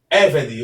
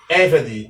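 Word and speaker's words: עֶבֶד: Eved. Observe que acima do Ain há um acento que é chamado de acento indicador tônico. Isso mostra que a sílaba tônica é a segunda sílaba, como vocês podem ver neste momento, tá ok?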